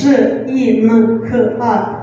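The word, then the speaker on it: жинка: And the last word, the stress is on the first syllable.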